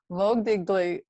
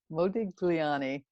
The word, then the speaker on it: Modigliani: taking these iconic uh mode mogdy i always mispronounce it moe digly ani modi mogu oh my gosh i'm just entertaining myself here moog digliani modigliani faces which are these long gated faces and